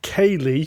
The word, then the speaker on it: céilí: will know actually but Kayleigh which is spelt weird cuz when you first read it kind of like Khalid what the hell's that céilí dances is he